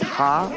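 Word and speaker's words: ห้า: laughing yeah it's uh you pronounce five as ha in Thailand In tha oh I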